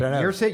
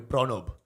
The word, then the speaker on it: Pranav: But then, you know, in Bengal, we would say his name differently. So it'd be Oh. Pranob.